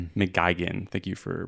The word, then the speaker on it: McGuigan: McGeen, thank you for pronouncing that correctly.